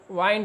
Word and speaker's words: wind: जब यह नाउन होता है तो इसका उच्चारण विंड होता है। क्या होता है? विंड होता है, और इसका मतलब हवा होता है। लेकिन जब WIND ये वर्ब होता है तो इसका उच्चारण वाइंड हो जाता है।